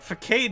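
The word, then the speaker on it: façade: It's a soft C. I know. But facade is such a better word.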